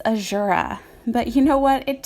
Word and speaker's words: Azura: Speaking of Shigure, I recently learned that I have been pronouncing his mom's name wrong for like years. According to Dream Prince Corrin, it's Ashura.